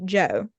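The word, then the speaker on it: DJO: I'm pretty sure it's pronounced Joe just like Regular Joe but it's an artist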